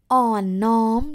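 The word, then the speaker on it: อ่อนน้อม: come to the fourth value this one is on norm tom ton oh my god so long well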